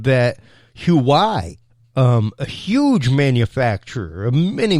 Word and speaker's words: Huawei: And what happened with that, Huawei, which is actually pronounced Huawei, Huawei, the way the company was looked at was